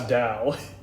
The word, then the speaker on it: Tao: poo by the way you spell it t t-a-o that's dao yeah i don't know chinese